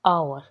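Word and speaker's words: hour: देखना तो आप देखना एच जो है एच साइलेंट है है ना मतलब एच को हम प्रोनाउंस नहीं कर रहे आवर होता है ओ ओ बोल रहे हैं इट मींस वोल साउंड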